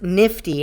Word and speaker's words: KNFTY: character super creative uh it's spelled knfty pronounced nifty and they describe it